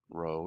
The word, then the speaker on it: rho: density we use this greek letter rho row it's spelled r h o row and the density rho